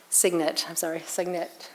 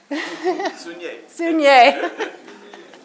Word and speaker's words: Sugnet: Sugnet. Sugnet.